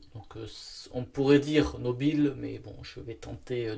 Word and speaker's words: Nobile: Italie, marque italienne, donc Nobile 1942. Parce que bon, je connais pas trop l'italien, mais quand on voit un E à la fin, il faut prononcer E. Donc on pourrait dire Nobile, mais bon, je vais tenter Nobile.